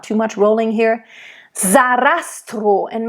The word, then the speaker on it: Sarastro: Sarastro, and make sure it's a voiced S in the name Sarastro. It's not Sarastro. Za. It's like an English Z. Z. It's voiced. Sarastro. And make sure the O at the end of the name is closed.